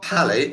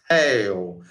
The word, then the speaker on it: pale: But if you put an E on the end like this, it's not pally, it's pale. The sound changes. The E changes sound. You go from pal to pale.